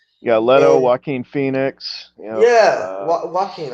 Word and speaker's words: Joaquin: leto joaquin phoenix yeah walking i said jockey because i could never pronounce his name i pronounced it j